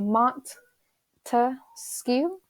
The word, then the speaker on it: Montesquieu: P wanted you to break it down to three different syllables so Mont to skew three different syllables meaning